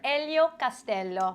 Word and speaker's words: Elio Castello: Elio Castello. Thank you for pronouncing my name properly.